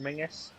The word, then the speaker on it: Menzies: it as the name menzies yeah yeah it's it's a whole thing i think this guy lived in scotland as well which is probably why it's still pronounced mingus yep like because they're